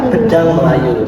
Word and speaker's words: pedang Melayu: Iya pedang Melayu. That's how we pronounce it in Malay in Riau Island.